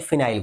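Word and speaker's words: phenyl: organic chemistry काम आएगा व्हेन benzene become substituent देन इट इ प्रोनाउंस एज फिनाइल ग्रुप आ गया इतना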